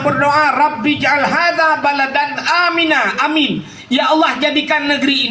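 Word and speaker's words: آمين: Nabi Ibrahim pernah berdoa, Rabbi ja'al hadha baladan amina. Amin. Ya Allah, jadikan negeri ini negeri yang aman. Sabah tu amin. A panjang, min panjang. Ya, cara baca.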